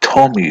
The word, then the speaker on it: Tomi: It's pronounced Tommy, isn't it? Not Tomi.